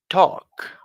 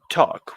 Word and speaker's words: talk: uh another example is talk to talk when you're talking the L no sound all right let's move